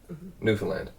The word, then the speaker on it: Newfoundland: And don't pronounce it. Don't pronounce all the syllables like tightly. Newfoundland. Newfoundland. Newfoundland.